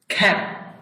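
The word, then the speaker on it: cap: ভি যদি প্রথমে বসে, শব্দের প্রথমে বসে ফা উচ্চারণ হয়, কিন্তু ভি যদি শব্দের শেষে বসে তাহলে প উচ্চারণ হয়, খ্যাপ। কেউ যদি বলে খ্যাপ ভ উচ্চারণ করে তাহলে কিন্তু হবে না, খ্যাপ।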